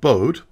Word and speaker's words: Bode: In 1768, the astronomer Johann Ellert Bode, who, being German, likely pronounced his name Bode, but everyone says Bode, so I will too, incorporated the rule into